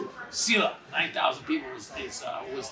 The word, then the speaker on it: Selah: Selah. 9,000 people was is was there back in '84. How do you spell that?